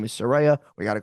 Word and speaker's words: Saraya: now it's time to get people to understand her name is Saraya. We got to call her Saraya. Saraya, Saraya, I know she Saraya.